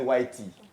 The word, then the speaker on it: whitei: Wité, c'est quand on parle en français. En anglais, Whitey.